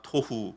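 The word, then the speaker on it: תֹהוּ: 여기서 혼돈 공허라는 두 명사는 성경이 기록된 언어 히브리어로 각각 토후 보호라고 읽습니다. 발음이 어떻습니까? 오후 하는게 비슷하죠.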